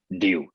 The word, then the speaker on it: Ryu: R is coming from my name, Ryu, RYU. The RYU is the Street Fighter game, the Hadouken guy. So the same like him.